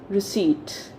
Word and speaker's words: receipt: it received no it's receipt what is it receipt so if you see the letter p is silent here right so if